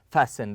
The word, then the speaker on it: fasten: We fasten. The T here is silent.